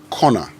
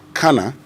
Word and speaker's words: corner: us have pronounced wrongly c o r n e r Conor however I've heard a lot of you say Cana because you believe that that's the right way of saying it yes I can agree